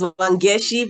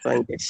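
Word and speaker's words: Wangeci: It's pronounced as Wangeshi but spelled as CI. All right. Yes. Wangeshi.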